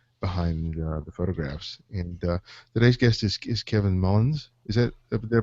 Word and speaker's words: Kevin Mullins: And today's guest is Kevin Mullins. Is that did I pronounce that correctly?